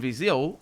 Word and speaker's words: Viseu: Viseu, people from Viseu, that's how it's pronounced, Viseu. And I'm pronouncing it. I'm noticing my accent just then. I say it like that, Viseu, but that's my accent right there. That's not how it's said in the center of Portugal.